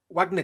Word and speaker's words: Wagner: said the Wagner group it's not Wagner it's Wagner it's the musician is Wagner because it's German this is a Russian group so it's Wagner you can't use the German pronunciation for a working organization even though they're named